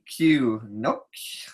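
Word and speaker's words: Noucq: Spell it. N-O-U-C-Q. Nook.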